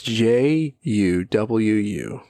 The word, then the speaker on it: Juwu: That's Juwu. Juwu. Spelled like it sounds.